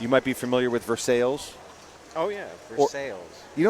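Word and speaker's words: Versailles: to do it you might be familiar with versales oh yeah versales you know what the dumbest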